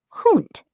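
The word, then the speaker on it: Hund: The dog in German dog is hoot. Say it. Hoot sounds a bit like hoot.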